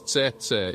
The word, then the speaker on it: tsetse: scientific and development contexts the word is pronounced as setet in Soo languages and is easily understood